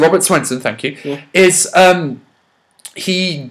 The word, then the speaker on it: Robert Swenson: Okay, with regret, I talk about Bane, played by Robert Swenson.